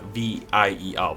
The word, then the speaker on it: vier: I would say it's always been it's spelt Vier, V-I-E-R, but all the German people I talked to said it's pronounced more like Vier.